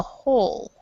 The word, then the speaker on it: whole: one but um yeah so instead of wool which makes sense because you have the um the W right here so you think that it would be wool but this W right here is silent so in English we say on the whole on the whole so